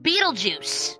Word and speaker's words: Beetlejuice: it it's named after the constellational star it's pronounced Beetle Juice oh okay that sounds stupid yeah I know